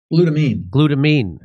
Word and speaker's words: glutamine: Glutamine.